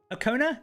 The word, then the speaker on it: Okona: Right, TJ's trying to tell me to pronounce it. Okona?